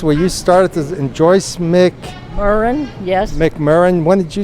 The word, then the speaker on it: McMurrain: Oh, it's McMurrain And Eartha Head.